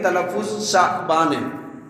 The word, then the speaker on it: شعبان: نام کو جانتے ہیں۔ تو شعبان کا صحیح تلفظ شعبان ہے، اور اس کا مطلب